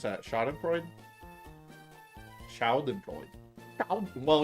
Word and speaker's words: Schadenfreude: Schadenfreude? Schadenfreude. Well, you gotta pronounce it like a German word, right? So you gotta go Schadenfreude.